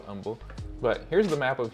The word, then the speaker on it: Humble: you're in the area the H is silent for some reason I used to say humble until I got corrected